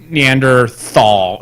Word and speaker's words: Neanderthal: now it's like Neander neanderthal no neanderthal eh anymore you you pronounce the T and the H so it's Neanderthal yeah whatever the point